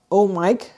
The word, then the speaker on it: OMIK: So one such organization is OMIK, and they're pronounced OMIK, like oh Mike, like oh I have a mic in my hand and I'm talking on the radio.